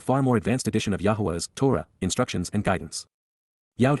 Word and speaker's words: Yahowah: reveals, Naam, announces in advance of it occurring, Yahowah, Yahowah, God's one and only name pronounced as guided by his Torah, instructions on